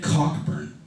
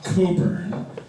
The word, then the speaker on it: Cockburn: over puns don't work tonight I even get cockburn all right he was probably the guy that